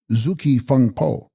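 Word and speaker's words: Gzugs-kyi-phung-po: The block print contains in place of this Zugski Fungpo, pronounced Zuki Fungpo.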